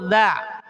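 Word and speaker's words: ذ: Kemudian di sini ada huruf dza. Awas. Cara pengucapan huruf dza waidza dza ya. Jadi huruf da ini dari thful lisani wa thfusatainil ulyatain. Dari ujung lidah dan ujung dua gigi atas.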